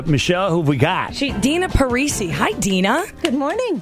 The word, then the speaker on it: Dina: Number one, Dina, right? It's pronounced correct. Dina. Yes. Okay, Dina. I said Dinah when I first read it.